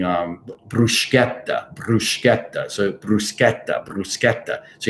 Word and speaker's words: bruschetta: hard pronunciation neither is bruschetta you know bruschetta you don't have to roll the r i mean you should roll the r so you could say bruschetta i mean that you're